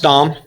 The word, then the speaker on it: Dahm: is an easy name to remember it is pronounced dom even though our t-shirts say yes i'm a